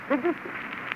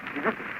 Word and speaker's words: Debussy: It should be said quickly. Debussy. Well, Debussy.